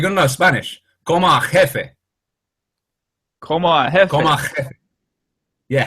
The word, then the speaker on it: jefe: Como jefe.